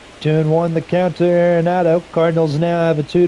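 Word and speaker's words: Arenado: Going back to first is Aronado. I've heard that name be pronounced a lot of different ways. Areronado. Oronado. Oronado like orthodontist.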